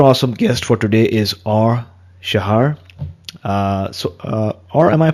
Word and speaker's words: Shahar: Our super awesome guest for today is Shahar. Or am I pronouncing your surname correctly? Yeah, that's not that easy. Shahar would be the right pronunciation, but it's very hard, I know.